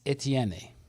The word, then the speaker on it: Etienne: Number 1, Travis Etienne.